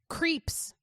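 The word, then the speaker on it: Krieps: to him T sorry do you have the pronunciation yes creeps okay cool according to the internet that's what it says I trust the internet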